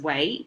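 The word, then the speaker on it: 囗: Um so this box pronounced as way became um radical that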